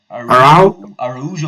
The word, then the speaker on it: Araujo: Araujo, not Arujo.